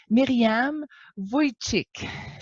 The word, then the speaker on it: Myriam Wojcik: Et c'est un plaisir et un honneur également que je vous présente mon historienne préférée, Myriam Wojcik. Bonjour Julie. Est-ce que je l'ai prononcé comme il faut, Oui, tu l'as Myriam?